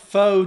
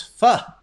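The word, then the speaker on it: phở: I used to call it pho too, but we have Jenny Lee at our office, and she's Vietnamese, and she says it's pho.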